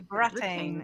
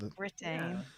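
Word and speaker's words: Brattain: Yeah, it's the Supposed to be Bratane, Bratane and not Britane.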